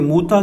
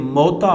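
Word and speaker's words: مؤتہ: Lecture میں ہم جنگ موتا کے حوالے سے گفتگو کریں گے۔ موتا کو عام طور پر لوگ جنگ موتا پڑھتے ہیں، جبکہ محققین نے اس کا صحیح تلفظ موتا بیان کیا ہے۔ اس لیکچر میں ہم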